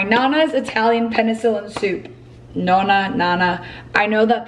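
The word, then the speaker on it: nonna: Nona, Nana. I know that the correct pronunciation for grandma in Italian is Nona, but I grew up calling my Nona, Nana.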